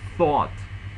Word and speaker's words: thought: Like when you read thought, you have to read the sound. Th. That means that you have to put your tongue between your teeth and you have to pronounce it very clearly.